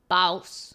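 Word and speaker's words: BAUS: anyways sorry b a u s oh oh bous yeah bous sorry all right let's start with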